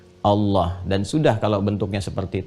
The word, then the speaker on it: Allah: Walaupun nanti dalam pedoman transliterasinya dituliskan misalnya ada A, kemudian L, ada yang menuliskan A lagi, kemudian H, dibacanya tetap mengembalikan kepada diksi aslinya, tulisan aslinya dalam bahasa Arab, yaitu Allah. Ingat ya, Allah.